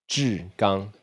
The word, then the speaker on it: Zhigang: Zhigang. Like CHI? CHIH. Yeah. CHIH. And then what is and then another one is gong, like qigong? Like qigong a little bit? Yeah. Sounds phonetically the same.